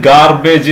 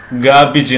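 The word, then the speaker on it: garbage: ഇത് ഗാർബേജ് എന്നാണ് പറയാറുള്ളത്. ഇപ്പം ചപ്പ് ചവറുകൾക്ക്, വേസ്റ്റുകൾക്ക് നമ്മൾ ഗാർബേജ് എന്നാണ് പറയാറുള്ളത്. അതിൻ്റെ ഉച്ചാരണം ഗാബിജ് എന്നാണ്. ഇവിടെ ആറ് സൈലൻ്റ് ആണ്, അതുകൊണ്ട് ഗാബിജ്, ഗാബിജ്, ഗാബിജ് എന്ന് ഉച്ചരിക്കണം. നെക്സ്റ്റ് വേർഡ് നോക്കാം.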